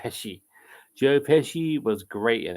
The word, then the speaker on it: Pesci: Joe Pesci, is it pronounced Pesci or Pesky? I think it's Pesci.